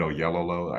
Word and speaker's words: Oyelowo: David Oyelowo, I think, is that how you pronounce his name? yes.